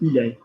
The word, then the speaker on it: il est: after that, T, so il est. So as far as you're concerned, that is pronounced the same as tu es, which is, yeah, okay, great.